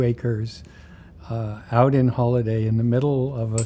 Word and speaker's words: Holladay: that you were, I think, born and raised in Holladay, if I'm Yes.